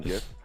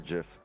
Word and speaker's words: GIF: the bears on it the pronunciation gif or jif if you say jeff i'm laughing at your face i don't care what you say according to time magazine pronounced jiff the